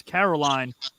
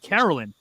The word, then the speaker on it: Carolyn: She got mad that I pronounced her name as Caroline the first 4 dates and not Carolyn.